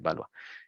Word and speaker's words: Valois: Esto se pronuncia en francés Valois.